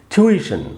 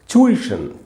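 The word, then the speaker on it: tuition: से इसका उच्चारण है छुइश च है ट नहीं च का साउंड है छुइश और अमेरिकन इंग्लिश में आपको अगर पढ़ना हो तो पढ़ेंगे टुइश सिर्फ टू है जैसे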